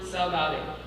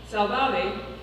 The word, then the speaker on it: saudade: The untranslatable word saudade. Saudade, in English, is pronounced saudade, European Portuguese, saudade, Brazilian Portuguese, saudade, and Galician, saudade, plural form, saudades.